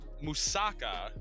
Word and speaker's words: moussaka: Greek it's Wasa like it emphasizes the AK like the last portion of the word though it looks good